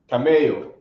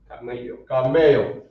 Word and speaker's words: camello: Camello. Oh, for real? Yeah, it's kind of, it's like the same thing with double L. That's it. Oh, okay. Double L-O. Camello. Okay.